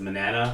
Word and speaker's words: Manana: Is it Manana? Like banana with an M?